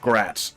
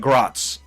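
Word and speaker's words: Graz: It's pronounced gratz. Okay, got it. Not the thing I'm the most worried about at the moment. The thing I'm most worried about is this More like gratz.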